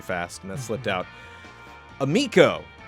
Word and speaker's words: Amico: Amico rhymes with amigo, not amico.